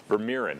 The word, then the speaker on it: Vermeeren: So this morning, to give us some insight, we've got the director of the Gratitude Experiment, as you call it, Doug Vermeeren.